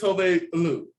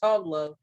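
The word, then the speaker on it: Tove Lo: Apparently it's Tove Lu. Tove Lu. I thought it was Tovlo.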